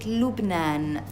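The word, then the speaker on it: لبنان: For example, Lebanon, we pronounce it Lubnan.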